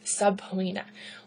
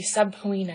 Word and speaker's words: subpoena: For example, I had a student one time deliver an entire speech and kept saying subpoena. Well, the judge sent them a subpoena and da-da-da-da-da subpoena. And I could not understand what they were saying. The word was subpoena. However, based on how it's spelled, they really kind of broke it apart and articulated on subpoena, but it was an incorrect pronunciation.